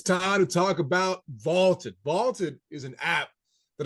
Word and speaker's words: VLTED: a try for free vaulted is spelled v LTE D and it is the